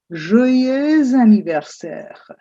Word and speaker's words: joyeux anniversaire: Note again, it's a continuum and you have a slight dead sound in between. "Joyeux anniversaire".